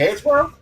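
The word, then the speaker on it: Hansbrough: Hansborough? Yeah, that's how you pronounce his last name.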